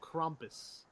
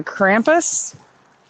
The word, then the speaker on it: Krampus: Well, isn't it also Krampus? Well, it's in America we say Krampus, but it's actually pronounced Krampus.